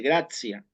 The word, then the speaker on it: gratia: Vieron que en gracia se escribe gratia, pero se dice en latín eclesiástico o latín romano se dice gracia. Es decir, que la T se acerca mucho al gracias en español y lo mismo hacia